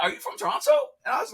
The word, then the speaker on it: Toronto: Well, I know they pronounce it Toronto, Montreal. not with the second T.